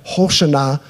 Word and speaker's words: Hosanna: And when James helped me with the pronunciation here, Hosanna, that's why I've been saying it weird the whole time. That's how it's pronounced.